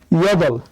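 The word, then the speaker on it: 여덟: তাই আমরা নিলাম এই দ্বিগুতের দ, আর নিচে শুধু রিউল, রিউল নিচে বসলে ল হবে, তাই নিলাম ল। তাহলে উচ্চারণ হবে ইয়দল, ইয়দল মানে হচ্ছে 8।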